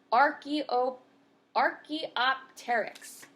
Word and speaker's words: Archaeopteryx: So phonetically, this one is a Archaeopteryx.